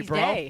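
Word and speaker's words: Breaux: u x it's right there bro yeah it's pronounced bro oh bro that I love that Cy's like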